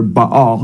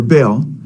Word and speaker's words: Baal: says and then uh b or he says b b l or Baal he spells it b a l how the Bible spells b or Baal it's pronounced in Hebrew uh which is the Canaanite